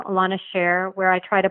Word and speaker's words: Elana: Just type Elana, Elana, and you'll find it right there. Or Elana, if you say it correctly.